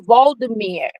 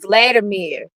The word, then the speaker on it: Volodymyr: So it's Voldemir is Zelensky's name. That's how you pronounce it. But a lot of people have been saying Vladimir, and I think that's because they're used to saying Vladimir Putin.